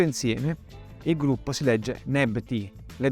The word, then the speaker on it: Nebty: Tutto insieme il gruppo si legge Nebti, le 2 signore.